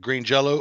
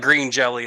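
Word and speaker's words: Green Jellö: garbage band is it green Jello-O or green jelly it it looks it looks like green jelly it's pronounced Green Jello garbage band kids I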